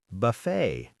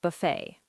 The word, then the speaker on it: buffet: Also, ballet, bouquet, buffet. All French words where the t is silent. Ballet, bouquet, buffet.